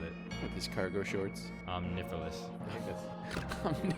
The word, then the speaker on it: Omniphallus: Omnifilous. Omnifilous is how you're going to pronounce it? Yeah. Omnifilous. It sounds a lot cooler, but spelled omniphallus.